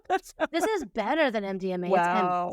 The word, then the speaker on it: MDMA: She's slinging pure MDNA and What'd you say? what I say? Pure what? MDNA. What did I say it wrong? What is it? MDMA.